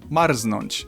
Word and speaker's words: marznąć: and I can only think of one example, marznąć, so I'd recommend to forget Marznać.